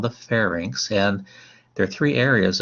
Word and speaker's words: pharynx: your voice now the pharynx this is how you pronounce that word correctly like the state fair and then inks like a ink pad inks a stamp fair